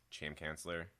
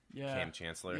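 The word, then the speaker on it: Kam Chancellor: he's ever since he ran over uh that Cham cancellor cam Chancellor I say his name right there champ canc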